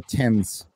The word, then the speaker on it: Thames: uh it's called the tens the Thames for some reason it's called the Thames even though it's spelled Thames I don't know London